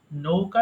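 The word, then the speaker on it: know: সঠিক উচ্চারণ হয় নো নৌকা যেভাবে বলতে হয় ঠিক তেমনি এটা হয়ে যায় নো জানা নো নিউ নোন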